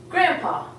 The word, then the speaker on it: grandpa: also have grand pop except we don't even see the D when you say we say grandpa so we're actually omitting the D and to say grandpa